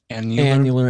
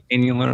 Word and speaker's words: annular: Annular. It was last week. Annular, like once a year.